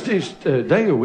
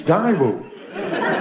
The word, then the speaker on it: Daewoo: It's Daewoo, isn't it, it's pronounced. That's wrong. It's Daewoo.